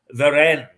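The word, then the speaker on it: Warenne: it's got it is veren and I think the W is pronounced as a v indeed it is way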